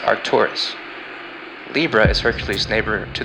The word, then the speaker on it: Arcturus: is pronounced spika and boes brightest star is pronounced Arcturus Libra is Hercules neighbor to the South she